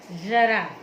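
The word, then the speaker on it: ज़रा: जरा यानी बुढ़ापा, ज के नीचे यहाँ हमने नुक्ता नहीं लगाया, लेकिन जब ज के नीचे नुक्ता लगा देंगे तो उच्चारण क्या होगा? जरा यानी थोड़ा।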